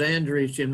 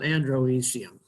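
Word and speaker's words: androecium: easy and this is andrew's gym not androidium the first vowel is silent all right now let's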